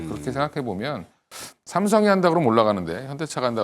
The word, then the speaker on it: 삼성: 그러니까 뭐 해외에서 보면 삼성 그러면 뭐 걔들 그 사람들 발음이 샘성 뭐 이렇게 하거든.